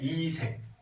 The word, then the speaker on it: 이색: 그리고 목은이라는 사람이요 이름이 발음 잘해야 돼. 이색. 요거를 뒤에 뭐 조사를 붙여 세게 발음하면 막 이색이 이렇게 되는 경우가 있거든.